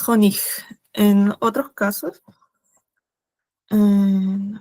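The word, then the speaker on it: Honig: sea, cuando, o sea, la g está al final y hay una i al costado, se pronuncia como una cjig, o sea, esa H se pronuncia como una J, como hon. Ya explicaré que la Ch, o sea, CJ en alemán es como una una J suave, ¿sí?, pero aquí es jonig.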